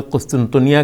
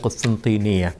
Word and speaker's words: قسطنطینیہ: کو ہم اردو میں قسطنطنیہ کہتے ہیں، حالانکہ عربی میں اس کا صحیح تلفظ ہے قسطنطینیہ، کیونکہ قسطنطین کانسٹنٹائن کا عربی تلفظ ہے.